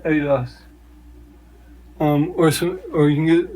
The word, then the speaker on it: Adidas: It's pronounced Adidas.